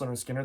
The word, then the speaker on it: Lynyrd Skynyrd: This is a reissue of Lynyrd Skynyrd, pronounced Lynyrd Skynyrd, their debut.